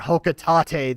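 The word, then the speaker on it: Hocotate: Sadly, perhaps back on Hawkate or Hocatate, that's apparently how you you're supposed to pronounce it.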